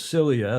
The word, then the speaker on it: Silja: Andrew Pindar in the UK, one of our super foes, he says, indeed, it is Silja, Silja. I guess that's the pronunciation. Yeah, Celia, I think.